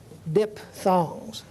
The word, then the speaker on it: diphthong: this and we'll talk about what we call diphthongs dip thongs a diphthong is where two vowels come so